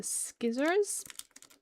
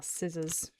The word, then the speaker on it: scissors: Make sure the cards are down the bottom before I use the skizzers. If anyone's watching this and they're not English, that's not how you say it. They are scissors.